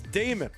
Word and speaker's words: Daemon: A E seems to be Damon. Demon. Diamond. I don't know. So, I guess we're going to have to It's like Matt Damon. All right. It's Damon. The canonical pronunciation of that is Damon.